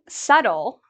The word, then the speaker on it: subtle: you don't have to worry because you don't pronounce the B. It's just doubt. This word, subtle, is a word many native speakers make mistakes